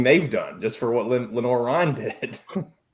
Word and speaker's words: Lenoir: Is that how you say it, or is it Lenoir? It's Lenore Ryan. It's Lenore, okay. Maybe in France it's Lenoir, but I promise you, North Carolina, it's Lenore.